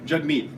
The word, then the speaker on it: Jagmeet: It's spelled with an A, but it's pronounced like it's a U. So it's not Jag, it's Jug like hug. So Jug and meet like we meet each other. Jagmeet.